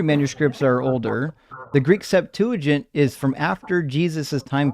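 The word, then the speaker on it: Septuagint: Uh Septuagent.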